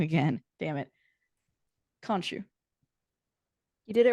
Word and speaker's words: Khonshu: And I'm going to say the name wrong again. Damn it. Khonshu.